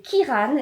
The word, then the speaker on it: Kieran: Et son meilleur ami, c'est Kiran. Et alors, ça s'écrit Kieran, mais le E ne se prononce pas.